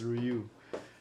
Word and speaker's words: Ryu: the ru figure Ru I'm starting to pronoun it like pronounce it like you know I'm from the US but it's ruu ruu figure it has the